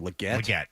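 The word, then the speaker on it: Legette: How do you pronounce his last name? Leggett?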